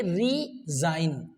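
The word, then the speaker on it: resign: okay in same way रिजाइन ji silent है यहां पर रिजाइन okay फॉरेन एफ ओ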